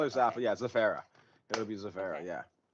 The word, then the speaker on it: Zaferra: Yeah, Zaferra.